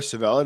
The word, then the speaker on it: Civella: But you cannot say or discuss the Kansas City mob without talking about Nicholas Civella or Civella, depending how you say it, Civella, and he wasn't a joke.